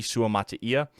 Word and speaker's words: Suamataia: long it's been since I looked up the pronunciation of his name but it's suam Mata Kingsley sua Mattia and the first thing I want to tell